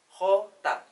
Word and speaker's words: jota: Jota. Nah, dalam pelafalannya nanti sebagaimana huruf H dalam bahasa Indonesia.